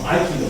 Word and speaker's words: Aikido: Or Aikido is to be pronounced. Rise and fall from the first syllable.